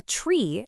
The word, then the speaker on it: trie: A tree, and you pronounce it just like you'd try something new, is also called a prefix tree.